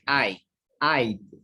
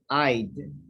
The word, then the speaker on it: I'd: Okay, when you say I'd, you don't say I'd. It's like a D. I'd.